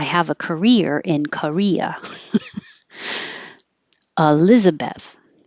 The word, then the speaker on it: Elizabeth: a career in Korea Elizabeth you can say Elizabeth but it's very correct and since the E is not stressed most people will change it to uh or E Elizabeth I say Elizabeth but Elizabeth nicknames could